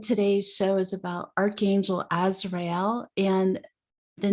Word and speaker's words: Azrael: show is about archangel azrael and the name means help of god or whom god helps and you heard me pronounce it so you know it's as real and the origin of